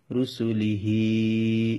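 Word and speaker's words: رُسُلِهِ: যেমন আমি বানান করে দিচ্ছি: র পেশ রু, সিন পেশ সু, লাম জেল্লি, হা কাড়াজের হি, রুসুলিহি। এখানে রুসুলি টান নেই, হার মধ্যে এসে টানতে হবে যেহেতু খাড়াজের। রুসুলিহি।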